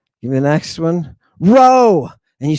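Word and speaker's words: ρ: me the next one row and you say wait a minute I thought that one was a p it was a p this is a row but that's an English P that's because Anglo Saxons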